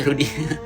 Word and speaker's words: Rudi: Eh, maaf Bu, nama saya bukan Duri Bu, tapi Rudi.